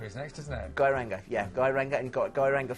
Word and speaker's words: Geiranger: And then Geiranger is next, isn't it? Geiranger, yeah. Geiranger, and got Geiranger Fjord as well. Was my pronunciation not quite there?